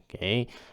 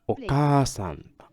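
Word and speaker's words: お母さん: Okasan. I'm sure you notice how the A is like a, and we gotta put a little bit of length, like la a. It's not like oka. It's okay. Okasan.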